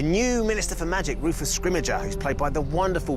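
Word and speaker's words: Scrimgeour: this film we have bill nye uh playing scrimmager who is fantastic there was we have kind of eventually reached consensus on how to say his name and we're going with scrimmager i think that's how we've ended up saying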